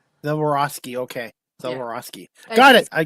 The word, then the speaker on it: Zahorouski: Z Well, very anglicized is Zaroski. Zoroski.